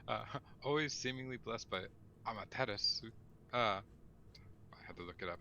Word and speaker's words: Amaterasu: there's you don't normally the u is like a weird half silent u which happens a lot in in asian language i've learned um how